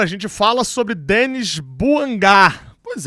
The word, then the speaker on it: Bouanga: Tô mudando um pouquinho a pronúncia aqui porque descobri que eh pelo nome dele ser francês, né? Normalmente o francês tem esse final e o Buanga era uma coisa muito americanizada, né? Então a forma correta de chamar o nome do cara é Buangá.